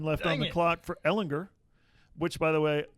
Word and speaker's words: Ehlinger: on the clock for Ehlinger which by the way I wrote it out on Twitter l ed gender there you go a legend to get it it's a hard G though according to hard